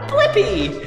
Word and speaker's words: Blippi: search for my name with me wait let's spell it together first b l i p p i blippy good job see you soon bye-bye come